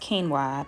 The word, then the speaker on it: quinoa: for all hair textures so the word is pronounced quinoa but i'm definitely going to mispronounce it a